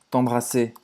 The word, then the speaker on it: t'embrasser: R de novo a gente não vai pronunciar.